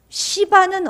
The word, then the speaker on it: 시바: 자, 그럼 시바는 어떻게 됐을까요? 시바는 시바예요. 발음 잘하세요. 시바. 음. 달려 생각하면 안 됩니다요. 시바입니다.